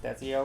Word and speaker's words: Desio: kind of subtle right it's lit Desio Desio ones or shirts pronounced desi oh right um in jungle